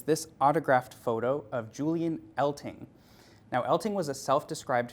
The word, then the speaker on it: Eltinge: Now, to clear this up, Elting is spelled E-L-T-I-N-G-E, which has historically caused many people to pronounce it Eltinge, but in a line that predates Liza Minnelli's Liza with a Z by about 50 years, Elting insisted it was Elting with a G, not Eltinge with a J.